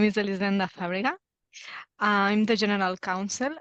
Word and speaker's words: Elisenda: Elisenda. You're pronouncing it right, Matthew. It's very difficult. Yes, my name is Elisenda Fàbrega.